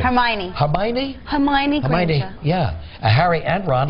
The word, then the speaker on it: Hermione: latest one in this scene how do I pronounce this girl's name Hermione Hermione Hermione yeah Harry and Ron are on the